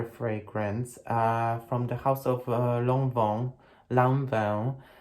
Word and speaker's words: Lanvin: This fragrance strongly, very strongly reminds me of another fragrance from the house of Lanvin, or in for my Polish viewers, Lanvin.